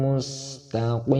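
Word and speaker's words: مستقيم: Ihdinas siratal mustaqim. Qaf, terdapat qaf bukan kaf. Mustaqim tetapi pakai mustaqim. Kita ulangi, kita baca 2 kali. Ihdinas siratal mustaqim.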